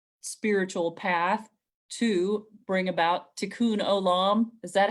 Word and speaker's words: tikkun olam: to use their spiritual path to bring about tikkun olam is that how you pronounce it okay um where you got it